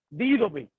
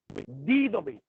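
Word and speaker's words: δίδωμι: Cuando nosotros estudiamos el término constituir, encontramos una palabra griega que se pronuncia didomi, didomi.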